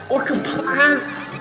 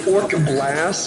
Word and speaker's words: Orcablast: Or I think it's actually Orcablast, but that's an Orcaplast! Like I added an extra syllable that's not even there.